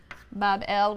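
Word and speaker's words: בבל: shrine or temple in Babylon pronounced Bob L which simply a gateway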